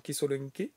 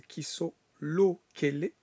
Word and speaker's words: Kisolokele: Charles Charles Kisolen je prononce très mal, je suis désolé, c'est Kissolo Kellé.